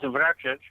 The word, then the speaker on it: Vrecic: Vrecic? Close enough. It's Vrecic, but okay. you did a pretty good pronunciation.